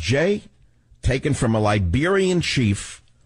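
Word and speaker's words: Jeh: us what is a name jam mean it's pronounced Jay taken from a Liberian Chief who reportedly saved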